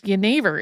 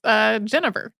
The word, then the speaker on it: jenever: Yeah, because jenever is spelled Genever. So if you're reading it on a page as an English speaker, it looks like it's Genever.